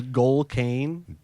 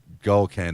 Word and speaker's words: Goldcane: Did you say his name is Galcane? Gold Kane. That's his rapper name.